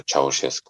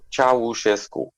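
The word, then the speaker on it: Ceaușescu: So imagine that it stood with me all the time, because that was a piece of what was happening under Ceausescu in communism, where everybody was saying, because that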